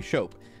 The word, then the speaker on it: Shope: It's not shop. You pronounce it right every time. Okay, Shope. Okay, not shop. Shope.